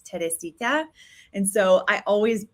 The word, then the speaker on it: Teresita: It's Teresita.